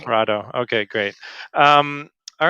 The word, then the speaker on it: Parotto: say your last name it's parato you said it right Prado okay great um all